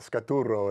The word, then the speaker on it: Scaturo: Romano, rolling the R's or not, Scaturo is actually how I say it in Italian. But okay. There's 2 R's on the end.